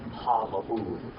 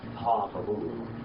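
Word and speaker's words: הַמַּבּוּל: Ha-mabu. Say that. Ha-mabu.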